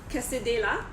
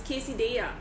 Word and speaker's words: quesadilla: have pronouncing it wrongly it's not Casa della but is quesadilla okay so it also